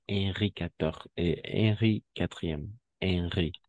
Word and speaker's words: Henri: Henri. Si H muet, Henri quatrième.